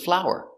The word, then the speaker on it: flour: good next we have flower and flower they are pronounced the same it's a beautiful flower it's countable a one beautiful flower it's a beautiful flower I cook with flour this flour is not